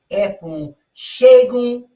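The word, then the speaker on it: Funsegun: is a so like my my one of my names is f-u-n-s-e-g-u-n that's f u shagun not aprons it's not so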